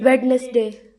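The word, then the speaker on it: Wednesday: जैसे कि वेडनेसडे यहां पर देखेंगे डी साइलेंट रहता है।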